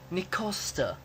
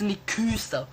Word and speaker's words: Nic Costa: for you there Joe it's Mr Nic Costa not Mr Nika Mr Nika it's Mr